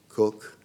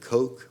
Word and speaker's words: Coke: C ke but pronounced cook we Americans would have said Coke but you know it's their their guy so they can call him what they like so Lord cook he's the one who